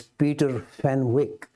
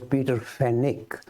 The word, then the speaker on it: Peter Fenwick: I was referring to is I tend to pronounce this as Peter Fenwick but in England they pronounce it as Peter fenik but it's written as f-e-n-w-i-c-k so to me